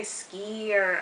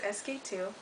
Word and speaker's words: SK-II: so so SQ - some people say skier i don't know but it's pronounced sk - it's super super